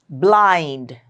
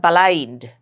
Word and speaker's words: blind: Consonant blend blind. It's not balind. Blind.